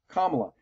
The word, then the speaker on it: Kamala: opponent kamla Harris and yes I am going to try my best to pronounce it as kamla you see I was